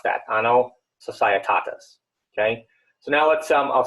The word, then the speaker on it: Anno Societatis: And that's how you pronounce that, Anno Societatis, okay?